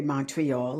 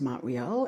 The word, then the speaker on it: Montreal: was a sellout crowd in Montreal, which is how we pronounce it for those of us here in Quebec. Okay, you say Montreal, it's Montreal.